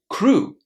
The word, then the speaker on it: crew: Can you hear what sound there is at the end? It's oo a long oo crew. There are some similar words in English that follow the same pattern. So for example, we're going to say grew the past of grow, threw, the past of throw, or flew, the past of fly. So crew, grew, threw, flew. Just remember about that long ooh.